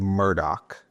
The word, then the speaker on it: Murdaugh: So, it's stated Murdoch.